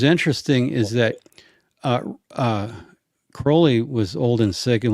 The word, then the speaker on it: Crowley: you know was a disciple of Crowley it's pronounced Crowley alist C I didn't know that okay good